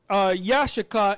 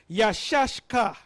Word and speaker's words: Issachar: Now, the way to pronounce it is not Yashaka, it's Yashashka. Yashashka.